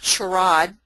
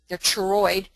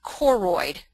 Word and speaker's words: choroid: CH, and it's not choroid, they're choroid. It's actually a K sound, so it's choroid.